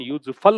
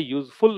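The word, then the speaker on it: useful: वो एडजेक्टिव होता है, इसका प्रोनाउंसिएशन यूजफुल होता है, यूजफुल नहीं होता, ऊ की मात्रा नहीं आती।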